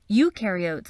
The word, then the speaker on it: eukaryote: nucleus no membrane-bound organelles eukaryotes on the other hand remember you rhymes with do and they do have